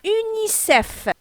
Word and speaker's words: UNICEF: Par contre, acronyme, on a UNICEF. UNICEF. L'ensemble des lettres forment un mot prononcé. Donc, toutes les lettres qu'on a, U-N-I-C-E-F, on a prononcé avec le mot UNICEF en entier.